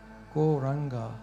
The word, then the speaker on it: Gauranga: Gauranga has 4 syllables. Go, ra, anga.